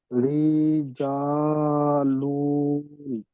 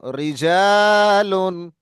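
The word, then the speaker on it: رجالٌ: জা, লাম দুপেশ লুন, রি, জা, লুন, লু টান হবে না, লুন। রিজালুন। রিজালুন। জি। তারপর? হুম, হুজুর, দুপেশ থাকলে টান হবে না এটা। না, দু পেশ থাকলে গুণ না, তানবিনের মতো আওয়াজ। রিজালুন।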